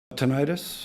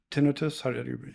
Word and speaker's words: tinnitus: Tinnitus or tinnitus? There's two ways to pronounce it?